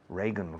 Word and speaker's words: Reagan: Reagan, Ronald Reagan.